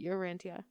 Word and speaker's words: Urantia: It's not Urantia. Oh, I kept saying Urantia. It's like tarantula.